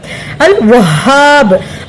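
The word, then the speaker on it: الوهاب: அது என்ன வார்த்தை அந்த அலிப் மதா வந்துட்டு அது என்ன வார்த்தை அப்படின்றத இன்ஷா அல்லாஹ் கமெண்ட் செக்ஷன்ல கமெண்ட் பண்ணிடுங்க அல்ஹம்துலில்லாஹ் அடுத்து அல்ஹாப் அல்வஹாப் ஹாக்க அலி மாதிரிதான் இருக்கு ஹா ஹாவும் இருக்கு ஹாவும் இருக்கு.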